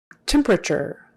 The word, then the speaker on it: temperature: temperature temperature tim or tem temperature that t is typically pronounced like a ch if you were to